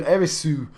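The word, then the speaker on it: エリス: They spelt it using kanji. It's not spelt with Roman letters. It's not in English. It's a Japanese word. She's called Erisu. And Eris and Aerith both translate back to that.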